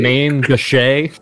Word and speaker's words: main gauche: main gauche. It's not pronounced Main main Gauche? gauche. I went to the pronunciation guide, and it is a Mon Gauche.